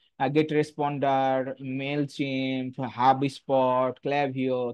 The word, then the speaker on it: Klaviyo: tools হচ্ছে ক্লাভিও বা কিলাভিও অনেকে এটাকে উচ্চারণ না করতে পারলে কিলাভিও বলে এটা উচ্চারণ আসলে ক্লাভিও হ্যাঁ এরকম টাইপের হয়